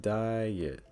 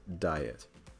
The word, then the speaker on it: diet: For instance, in the word diet, it's like diet, diet. You can hear the yit, diet, diet. Although some people may also pronounce it as just diet.